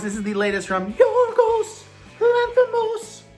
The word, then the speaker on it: Yorgos Lanthimos: Of course, this is the latest from Yorgos Lanthimos, which is how you have to say his name.